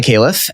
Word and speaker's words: Khalife: Although it's butchering its original pronunciation as it may be. It's originally an Arabic. I'm originally from Lebanon. Mm-hmm. So I've kind of just gotten however you pronounce my name is cool, but it does have the word life in it.